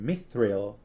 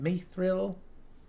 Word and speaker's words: mithril: which the elves called mithril mithril mathrill i feel like i remember in the films i'm saying like mithril or something like that they put kind of a an e sound in it i've always kind of